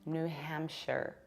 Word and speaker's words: New Hampshire: If it is a separate word, then yes, we say a shire. But when it's a part of something bigger, you have to reduce it and pronounce it like share. Hence, we have New Hampshire.